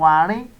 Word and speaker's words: àárín: The next is àmì ohùn àárín. Àárín, the mid tone. The mid tone. And that is pronounced re, re, re.